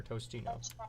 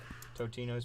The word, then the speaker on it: Totino's: Is it Totino or Tostino? There's no S. I always call it Tostinos myself. Totinos?